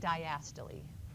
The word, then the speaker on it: diastole: So contraction is systole, relaxation is diastole. It's not systole and diastole. That's what it looks like, right, if you sound it out phonetically, but it's systole and diastole.